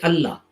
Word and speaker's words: Allah: if it's both the words should be separately pronounced but we don't we say allah so that means it's not it means allah